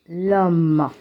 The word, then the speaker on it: l'homme: L'homme. H is mute.